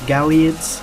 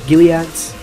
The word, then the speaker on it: Gilead: rockets to kill those uh galleons gileads yeah gileads not gallaghers putting the wrong emphasis on the wrong parts of the world oh i just got